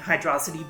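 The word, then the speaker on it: Hydrocity: particular is really funky and yes I am pronouncing it hydrosity because every official Source spells it as one word so I'm going to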